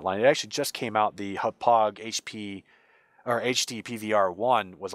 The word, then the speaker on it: Hauppauge: I use what's known as a HAPOG, if I think that's how you pronounce it, HAUPPAUGE, HAPOG HD PVR2.